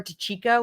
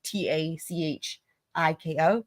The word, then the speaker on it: Dicicco: But I'm speaking of Trooper Tachiko, which is how they pronounce it. They pronounce like it's the way that they pronounce it, the phonetic in my mind, the way it would be spelled phonetically is like Tachiko, Tachiko. That's how they say it. But we learned thanks to DSN that it's spelled Dicicco.